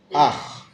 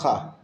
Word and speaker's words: אח: Ah starts here, but ends with the chet. Ach. Ach. Not with the cha at the end. Ach.